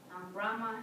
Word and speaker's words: Brahma: Brahma, did I say that right?